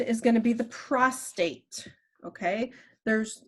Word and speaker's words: prostate: the prostate okay there's it's not prostrate that means to like lay down to get prostrate on your in front of someone or whatever this is the prostate okay so that's how it is pronounced and it is going